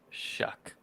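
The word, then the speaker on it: Shough: Texas are the third team and it is pronounced Tyler shuck shuck shuck I don't know why those things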